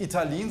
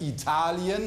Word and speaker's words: Italien: Es heißt nicht Italien, sondern es heißt Italien und es heißt Sizilien.